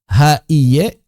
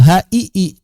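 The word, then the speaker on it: هِيَ: Secara vokal, apakah hi, ha-i-ye karena ya-nya kita anggap adalah ya konsonan, atau ha-i-i karena kita anggap ya-nya berubah menjadi mad. Maka dalam bahasa Arab ini dibaca ha-i-i, hi panjang, bukan hi-i, bukan ya.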